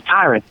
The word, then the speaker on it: Tyron: His name is Tyrant.